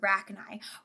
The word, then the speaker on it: Rachni: By the way, you were right with the first pronunciation of Rachni. Right, okay, I thought so. Like Arachni, right?